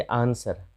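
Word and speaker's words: answer: अब देखते आंसर, आपको पता ही है, यहाँ पे कोई समझाने वाली बात नहीं है कि यहाँ भी डब्ल्यू साइलेंट हो जाता है, सीधे आंसर पढ़ते हैं।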